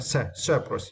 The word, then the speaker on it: separate: Yeah, and for this word, you need to stress the first syllable, right? Separate is meant to divide into different parts or groups.